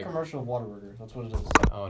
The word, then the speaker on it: Whataburger: Whataburger? No. What a burger. It's pronounced. If you listen to a Whataburger. commercial of it, they call it Whataburger.